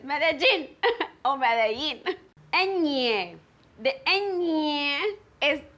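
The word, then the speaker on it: Medellín: the gene media but never made elaine madeline i'm going to madeleine there's no meddling it's medellin and yeah the engineer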